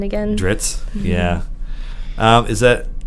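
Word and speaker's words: Drizzt: I mean, it's a double Z, which to me, like I think of double Zs, I think of pizza. But Dritz, it doesn't really work.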